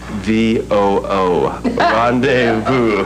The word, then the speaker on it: rendezvous: It's spelled Rondayvoo. Rendezvous.